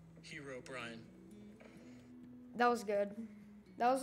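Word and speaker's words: Herobrine: Hero Brian.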